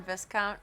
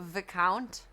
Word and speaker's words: Viscount: You pronounce the S in Viscount, so Viscount.